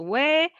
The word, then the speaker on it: ㅙ: You see this one, U and O different, but same. So the outcome not so different. So this one is a we, and this one was a we too, and this one is again we. So three we.